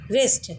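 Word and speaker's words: wrist: तथा अगेन सामान्यतः डब्लू के जस्ट बाद यदि एच आता है तो वहाँ भी डब्लू सामान्यतः साइलेंट हो जाता है। For example राइट, wrong, रिस्ट। एंड आप यहाँ भी देख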